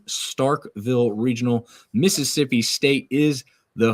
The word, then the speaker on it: Starkville: All right, the Starkville Regional, not Starksville. There's a lot of people out there that mispronounce that, but it's Starkville Regional.